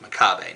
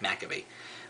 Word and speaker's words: Makabe: I know his last name is pronounced Makabe, not Makabe.